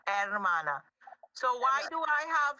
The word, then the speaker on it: hermana: Please don't pronounce the H for hermana. It's hermana.